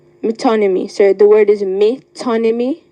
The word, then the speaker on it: metonymy: of a metonymy metonymy am I pronouncing the word correctly yes metonymy m y t o metonymy sorry the word is